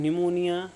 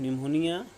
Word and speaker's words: pneumonia: If you're suffering from pneumonia, you may write the different reasons. Like you can say that I am suffering from pneumonia. It's not pneumonia. Basically, P is silent here.